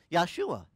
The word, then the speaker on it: Yahshua: he had a name yahshua we pronounce it Joshua but it's really in Hebrew yeah for a a